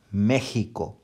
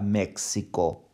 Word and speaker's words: México: su sonido ensinou rota exemplo méxico tem a gente não fala mexxico não sei o que esse exame norte-americano né os norte-americanos fala maxicam que tá então nosso são méxico e lembra dele estadual